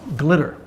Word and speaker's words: GLTYR: again I'm sure because this is the bomb glitter cute it's spelled g-l-t-y-r give life to your reality if